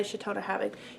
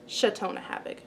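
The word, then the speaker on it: Chautona Havig: the belts of new chelten ham cheltenham by chatona having you don't know how to say it this is chatona havoc i know she's my mom i know how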